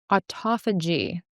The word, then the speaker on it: autophagy: Autophagy. Sometimes when you see it in print, your brain assumes a pronunciation.